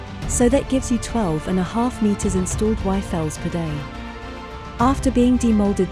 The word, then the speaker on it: Yfel: So that's how I developed the Yfel, spelled with a Y. So, it's upside down Eiffel.